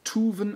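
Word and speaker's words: toeven: Oder im Holländischen wird es tuven ausgesprochen und heißt bleiben.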